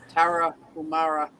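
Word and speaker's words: Tarahumara: It's Tara Humara. I think I say Humara because that's one of the big pharma commercials, like Humara.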